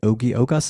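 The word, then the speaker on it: Ogi Ogas: with your co-author and oie ogos is that how you say his name yeah that's it's oie he approached me in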